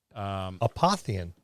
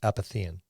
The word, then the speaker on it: Apothian: Apothian and not apathian.